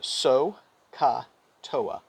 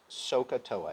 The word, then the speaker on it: SOHCAHTOA: device for the three trig functions it's called so ka toa and it's pronounced sohcahtoa everybody repeat after me sokatoa socatoa and this